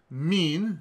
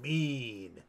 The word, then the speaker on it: Maine: Also known as Meen. Mean. Not spelled like the not two spelled E's. like the word for when you're just particularly malevolent. Mevenus, Mavenus, or Mewan was